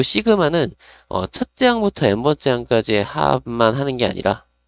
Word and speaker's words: sigma: 읽을 때는 시그마라고 읽으면 돼요. 시그마. 영어로 이렇게 SIGMA 이렇게 시그마 이렇게 읽으시면 되고요.